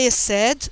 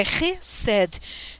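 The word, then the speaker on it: חסד: Vocês vão ver que está escrito com H, mas tem um pinguinho debaixo desse H, é para vocês pronunciarem bem forte esse H. Então não é Hesed, é Hesed, tá?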